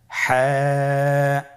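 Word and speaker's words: حاء: হা হরফটি কিভাবে উচ্চারিত হবে? হা হরফটি উচ্চারিত হবে কন্ঠনালীর মধ্যখান হতে।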